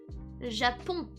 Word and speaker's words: Japon: Japan is Japon.